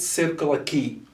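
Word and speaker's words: Circular Quay: there's an area in australia that is called circular key circular key so if you google this area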